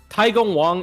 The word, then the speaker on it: Taigong Wang: So Taigong Wang is the Chinese pronunciation.